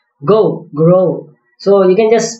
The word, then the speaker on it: Gouraud: Actually, this is pronounced as grow.